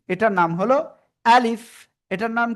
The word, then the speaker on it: ألف: এটার নাম হলো আলিফ। এটার নাম কি? আলিফ, ঠিক আছে? এবার দেখেন এই যে আলিফ অক্ষর, প্রথমে আ, শেষে আসতেছে লিফ। আলিফ কোনো টেনে পড়া যাবে না, কোনো কি টেনে পড়া যাবে না।